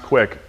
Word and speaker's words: Qik: this one called uh it's spelled qik but it's pronounced quick uh skype bought these